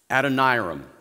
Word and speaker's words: Adoniram: How many of you have ever heard of a man named Adoniram Judson? I can never say his name right. Can you say it for me, Mrs. Neal? Adoniram. All right, thank you for that.